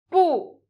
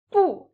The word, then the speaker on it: 不: 比, 不, 不, 不 can be pronounced with a slight exaggeration, like an angry no. No. 不.